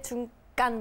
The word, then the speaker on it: 중깐: 시 중국 이름을 따서 중간인데 중깐 뭐 발음 이렇게 하게 된 자장에서 깐이 된 거고요 사실 중자는 저 가게